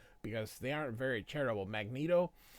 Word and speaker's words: Magneto: Magneto, it's really Magneto, but I say Magneto because most people say Magneto, but it's Magnet with an O.